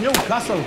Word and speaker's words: Newcastle: But it's pronounced Newcastle.